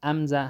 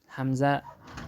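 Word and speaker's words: همزه: حمزه حمزه. بعضی کتابو کې راغلی چې امزه هم تلفظ کی، خو مشهوره حمزه ده، نو ځکه حمزه صحیح ده.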